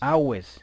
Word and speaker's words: Aves: See, Aves. awis. That's the classic Latin Aves. classic Latin way of pronouncing awis.